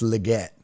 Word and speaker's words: Legette: and leot show or it's Legette sorry I said legot it's Legette I had to look